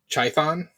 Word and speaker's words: Chthon: to pronounce it but it's uh chthon I think might be the right way to say it uh basically he's the